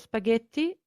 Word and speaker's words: spaghetti: g and the i as we said before the h is silent it's just a marker